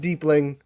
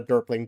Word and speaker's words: deepling: Our first deepling. It's a deepling, not a derping.